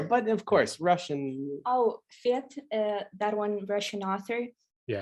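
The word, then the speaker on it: Фет: Oh, Fet, that one Russian author. Yeah. Actually, he wasn't Fet, he was Fet.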